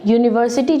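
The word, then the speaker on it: university: यहाँ पर यूनिवर्सिटी जो शब्द है, इस यूनिवर्सिटी शब्द में यू का उच्चारण यू की तरह हो रहा है। यू जो है this is ए consonant sound. ये AEIOU में से इसका उच्चारण नहीं है, इसको हम यू की तरह पढ़ रहे हैं, तो here it becomes अ consonant sound.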